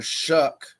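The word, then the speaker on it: Shough: Tyler Shuck from Louisville, like you Shuck Corn, that's how you say his name.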